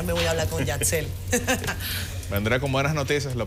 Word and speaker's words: Yatzel: Con Z-E-L, Yatzel, quiere decir Dios provee en el libro de números.